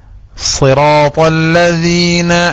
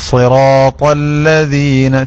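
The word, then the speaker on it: صِرَاطَ الَّذِينَ: സിറാത്തല്ലദീന എന്നിടത്ത് ലാമിന്റെ തഫ്ഖീം വരാൻ പാടില്ല. ലാമിന് നേർപ്പിക്കലാണല്ലോ നേരത്തെ പറഞ്ഞത് തന്നെ. സിറാത്തല്ല പറഞ്ഞു നോക്കൂ എല്ലാരും. സിറാത്തല്ലദീന, സിറാത്തല്ലദീന.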